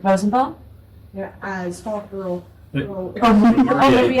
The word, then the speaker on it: Rosenbaum: Superman, and Susan as Wonder Woman, Michael, I'm pronouncing that right? Rosenbaum?